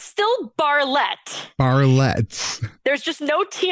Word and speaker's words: Barlett: didn't actually look at that part because i pronounced it as a bartlett and it is um you wrote very nicely with an asterisk barley it denotes emphasis so is it barley bar barlette it's still barlette barletts there's just no tea in the middle